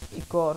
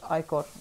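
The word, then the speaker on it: ichor: I sense अ ट्रोपल चालिस, कैन I fill it with magical इकोर, that's pronounced आईकोर।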